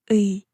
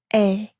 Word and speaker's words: 의: 의 becomes 의. Depending on the word, this sound can change a little. It's often pronounced simply as 에.